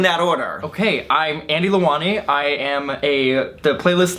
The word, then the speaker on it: Lewani: Michael Buckley and this is my friend Andy leani I just said Andy how do you say your name lewani lewani um Andy works here at playlist and so